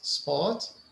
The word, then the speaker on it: sport: Sport. Do we say it? Is it correct? Sport. Yeah, we don't say it in sport.